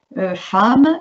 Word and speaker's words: femme: Femme, il faut apprendre que ça se lit femme et non pas femme.